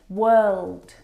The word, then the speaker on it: world: pronouncing a for all of these words word world work if you pronounce or especially for this last one walk